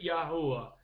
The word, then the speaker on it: Yahuwah: pleasing to him, because his name is Yahuwah, Yod-Heh-Wah-Heh. Pronounce it however you want. I'm going to pronounce it Yahuwah.